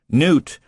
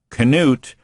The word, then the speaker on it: Knute: are listening to K not Newt Knute and Howard single word Howard no one pronounces it wrong Knute so so don't look up Canute on the internet because